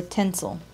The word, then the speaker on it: tensile: is based on answer tensile strength or tinsel rhymes with pencil question fabric rejuvenator is